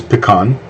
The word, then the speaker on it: pecan: There's only one way to pronounce pecan. That's in English. Any other pronunciation would be incorrect. It is pecan.